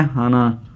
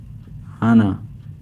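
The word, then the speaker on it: 하나: सामने लिखा हुआ है इसे हम प्योर कोरियन नंबर में कहते हैं हाना हाना टू को हम कहते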